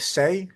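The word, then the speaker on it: Sae: Is it Say? Am I saying that right? Say whatever. I can't pronounce her name. I know. How is it pronounced? Does anybody know? I think it's Sia, but let me just check. Now I'm slightly worried. Write it S-A-E, but how do you pronounce it? Yeah. It's Sia.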